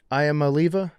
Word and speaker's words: Iamaleava: the bottom line is Nico, how do you pronounce the last name? I am Aliva.